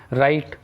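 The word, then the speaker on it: write: राइट राइट means लिखना, इसमें W silent है।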